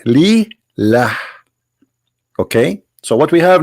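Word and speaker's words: لله: The first one pronounced as Allah. The second one it says Lillah.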